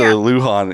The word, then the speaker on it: Lujon: get going too far because I've got Luhan is how you pronounce the last name right yeah yeah got